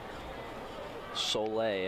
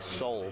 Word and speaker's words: Soleil: Soleil, I mean, it's spelled S-O-L-E. It's spelled like soul, but it's a fancy pronunciation.